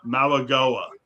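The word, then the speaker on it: Mauigoa: And by the way, I got the proper pronunciation too, believe it or not. Maligoa.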